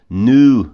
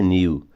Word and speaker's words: new: Nu não é new.